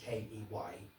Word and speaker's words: Keynes: She said, excuse me young man, she said, I know it's spelt Keynes, K-E-Y-N-E-S, but here in Cirencester we prefer to pronounce it Keynes.